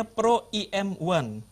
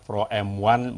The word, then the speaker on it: Pro EM1: Atau disesuaikan dengan lidah kita, Pro M1 boleh juga, Mas Oki. Ya, karena masyarakat bahasa Indonesia ini memang lebih gampang mana yang lebih enak diucapkan, Pro M1.